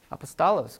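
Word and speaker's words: ἀπόστολος: Apostolos, good, yeah. So there's one problem. Where do you get the O sound? Right, from omega.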